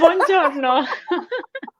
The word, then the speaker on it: buongiorno: And you're a better woman than me, because the only Italian I know is buongiorno. I don't even know if I said it right. Yours is, yeah, buongiorno.